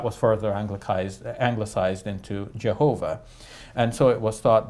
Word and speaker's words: Jehovah: uh they uh um follow a rendition of this name uh that comes from the Middle Ages uh where it was uh pronounced by a Christian scholar as Jehovah Jehovah what he did there was he combined the the four letters YH wh the four consonants uh with vowels that belonged to the expression the